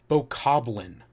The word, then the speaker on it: Bokoblin: like hydrocity it's hydrocity bokoblin it's like goblin not boko blind but uh you know